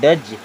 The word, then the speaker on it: does: अब DOES इसे पढ़ते हैं डज।